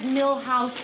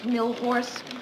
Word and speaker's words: Milhous: Grant asked me to remind you it's Richard Milhouse Nixon, not Millhorse.